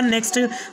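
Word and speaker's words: knock: इसके बाद का नेक्स्ट रूल है, जब के बाद एन आ जाए तो के साइलेंट होगा। जैसे कि KNOW नो, इसके बाद में है नॉलेज, उसके बाद में है नॉक, उसके बाद में है नी, उसके बाद में है नॉट, यानी यहाँ पर हमें के को नहीं पढ़ना है।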